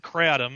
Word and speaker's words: kratom: herbal supplement called katum uh and some people pronounce it catom and I I say katum it's a k r a t o m